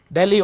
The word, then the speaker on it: Delhi: Delhi, or Delhi as we say in Delhi, right? If you're a Delhi wala, means you're from Delhi, which is how it's said in that city.